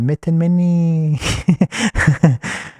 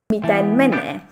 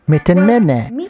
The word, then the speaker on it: miten menee: Okay, what is the proper pronunciation of Mitten Mini? Or you know what? I'm sure I'm pronouncing that wrong, but I think the way I'm saying it sounds pretty cool.